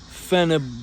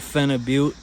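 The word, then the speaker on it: phenibut: at Walmart it's a dietary supplement it's called fenib but it's got a weird name I I like calling it Fen aute but it's spelled p h e n i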